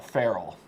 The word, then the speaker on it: ferrule: I don't want to get off on a tangent here, but we spell it ferrule, but call it a wild animal, a feral.